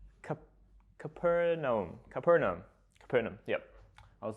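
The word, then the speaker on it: Capernaum: John were fishermen in a town called CAP capernum capernum capernum yep I was looking up how you pronounce that this morning morning so it was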